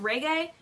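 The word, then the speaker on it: Regé: excited is it reggie is it reggie um reggae this one says pronounced reggae um i was very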